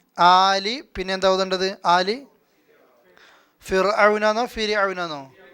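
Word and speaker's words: فرعون: ആലി ഫിർഔനാന്നോ ഫിർഔനാന്നോ? ഫിർഔന അല്ലേ. റാഇന് സുക്കൂനാണ്, തൊട്ട് മുമ്പിൽ വന്ന അക്ഷരത്തിന് കസറാണ്, ഫി എന്ന ഉച്ചാരണമാണ് അല്ലേ.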